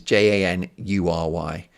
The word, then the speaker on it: January: I say January, which is Janury. I don't say January.